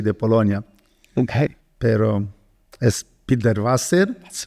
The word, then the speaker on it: Pilderwasser: Bueno, soy Pilderwasser, el Wasser por agua Okay. en alemán. No tengo parientes alemanes. No, mis abuelos llegaron a Brasil de Rusia y de Polonia. Okay. Pero es Pilderwasser.